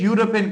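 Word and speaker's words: European: अब याद रखिए यहां ये जो इ है ये साइलेंट है। इसकी कोई आवाज नहीं है। और ये जो यू है इसकी आवाज है लेकिन ये यू की आवाज देता है और ये वाई की आवाज है।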